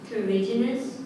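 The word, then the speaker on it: terrigenous: Terriginous. Terriginous. Are there any alternate pronunciations? Terriginous. Terriginous. The main pronunciation is terriginous. The alternate is terriginous.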